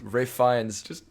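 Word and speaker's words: Ralph Fiennes: That's which again made me laugh because Ray Fiennes who's called Ralph, but that's your biggest problem with the film. Who, by the way, if we're just putting it out there, it's spelled Ralph.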